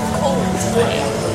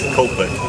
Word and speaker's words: Coldplay: You said that like it was 2 words. Coldplay. How do you say it? Coldplay. Coldplay. And then You join the D to the P.